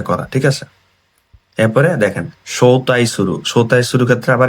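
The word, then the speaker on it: 招待: এরপরে দেখেন সৌতাই শুরু, সৌতাই শুরু ক্ষেত্রে আবার এটা বসছে তাই, অন্য রিডিংটা বসছে।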